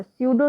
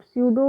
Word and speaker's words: स्यूडो: स्यूडो social group, स्यूडो होता है, स्यूडो का मतलब होता है नकली, पी साइलेंट है यहाँ पे।